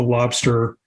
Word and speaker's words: Lobstr: just look at the lobster um screen and it's spelled l-o-b-str so if you go